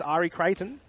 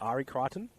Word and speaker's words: Ari Kraton: It is Ari Kraton despite the popular belief that it's Ari Kryton.